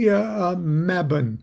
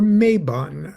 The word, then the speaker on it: Mabon: It is the autumnal equinox, and it is also the pagan holiday, if you want to say pagan holiday, Mabon or Mabon, however you want to pronounce it.